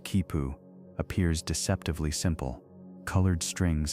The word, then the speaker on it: quipu: The quipu, pronounced kipu, appears deceptively simple.